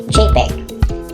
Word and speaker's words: JPEG: First is the JPG or pronounced as JPEG and is short for JPEG or joint photographic experts group.